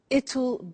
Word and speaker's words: it'll: now will is easy really it's just the pronunciation which is difficult I said tomorrow it'll be cold you notice how it will becomes